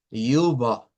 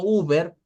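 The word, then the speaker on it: über: I redonda es esta la u se pronuncia Así es una u con diéresis y se pronuncia al final la e con lo que es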